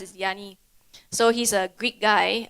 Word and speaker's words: Yanni: sounds similar and look similar but actually it's pronounced is Yanni so he's a Greek guy a very good